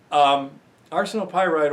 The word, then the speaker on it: arsenopyrite: assay result arsenic RC nope I'm sorry arsenopyrite ores let's pronounce it properly arsenopyrite ores tend to have